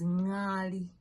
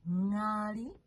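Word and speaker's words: ngaali: The next word is nyali. Nyali is the crested crane. It's a bird. Okay, so we call it nyali. You see how I'm pronouncing it from the back of my throat.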